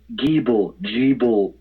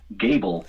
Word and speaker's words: Gebel: Another guy, his last name is Gebel, and I've heard it Giebel, Gebel, Gerbil, and it's actually pronounced Gable, and it's like you take your best guess, and you never know.